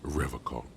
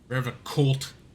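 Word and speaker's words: Revachol: He pronounces Revocol with a hard K, unlike other people. Revocolt.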